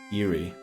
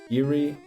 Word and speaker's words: Erie: Loch Ness Eerie Lake Erie, which it should be pronounced cuz that's not how you write Eerie. Illinois River is also close, right? Okay, we're going to go Erie.